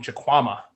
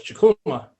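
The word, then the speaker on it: Chukwuma: And so, in second grade, my second grade teacher on day one pronounced my name Chukwama, even though it's Chukuma, and I didn't correct her.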